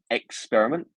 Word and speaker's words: experiment: So we have experiment. So we have our second part here that is our stress syllable. Experiment, experiment, not experiment or experiment or even experiment. You see, these are the different ways that it would be pronounced if it was stressed in different ways.